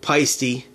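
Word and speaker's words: Paiste: So basically, and I know it's pronounced Paisty, but I am Paisty.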